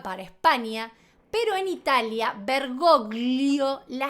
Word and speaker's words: Bergoglio: La G no existe cuando la pronuncias. Entonces los ejemplos serían familia, familia. Bergoglio, bergoglio.